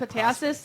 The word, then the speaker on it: Epitasis: But Mount it's epitasis, like taffy.